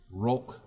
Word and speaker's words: Rolk: His name is Rolk, which sounds like they had Hulk, but they wanted to put an R in front of it, which is exactly how it's spelled.